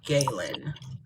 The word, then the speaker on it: Galen: So Galen, it's Galen, like Jalen, but with a G, pronounced G instead of J. Um, I was pronouncing your name wrong then. Because I was saying it like a gallon of water. You know, like a gallon GA.